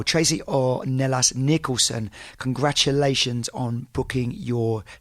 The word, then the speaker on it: Ornelas: Tracy Ornelas. I always go to do a Spanish pronunciation when I do that double L. Tracy Ornelas Nicholson, congratulations on booking your ticket to start the Camino in September.